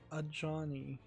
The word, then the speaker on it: Ajani: Health upgrades I'm evil had better watch it Ajani apparently it's how that's pronounced that there's something weird now with the